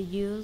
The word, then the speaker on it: ư: To pronounce this letter, you smile like you do when you say E, but don't say E, try to say U.